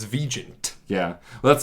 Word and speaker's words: Vigeant: older alumni were like, we have been pronouncing it Vigeant forever. And I was like, please continue. I have no problem with that. It sounds way more sophisticated that way. It's absolutely the way it's supposed to be pronounced. It's just, we moved here and somebody decided it's Vigeant.